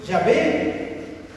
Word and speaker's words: Yahvé: Bueno, en el lenguaje hebreo se hace la pronunciación Yahvé.